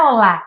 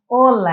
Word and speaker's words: hola: E essa é a primeira delas, que muitos brasileiros falam olá. E não é olá, é ola, é uma palavra paroxítona.